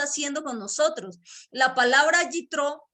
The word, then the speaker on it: Yitro: De hecho, Jetro en hebreo es algo así como Yitro, o sea, no se lo voy a poder pronunciar nunca bien, pero es básicamente se pronuncia así como Yitro.